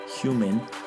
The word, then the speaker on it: HVMN: Human, which is spelled HVMN.